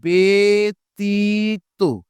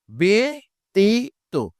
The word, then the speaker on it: ব্যতীত: যখন আমি পেয়ে যাব, তখন অবশ্যই বজ্রফলার আর ব্যা উচ্চারণ করা যাবে না। এটাকে বে করে ফেলতে হবে। তাহলে শব্দটা হবে কি? ব্যতীত। ব্যতীত।